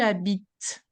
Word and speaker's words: habites: before in the recap, the silent E, it means like, est-ce que tu habites? Here, the sound that you can hear is the T sound, right? Est-ce que tu habites? That's the T.